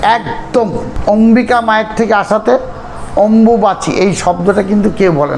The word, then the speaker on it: অম্বুবাচী: কেউ নানা রকম ভাষায় বলে একচুয়ালি যদি স্পষ্ট উচ্চারণ অথবা প্রকৃত কথা হয় সেটা হচ্ছে অম্বুবাচি অম্বুবাচি এর নামটা কিন্তু অম্বুবাচি অম্বু একটা শব্দ অম্বিকা মায়ের থেকে এটা এসছে একদম অম্বিকা মায়ের থেকে আসাতে অম্বুবাচি এই শব্দটা কিন্তু কেউ বলে না সবাই বলে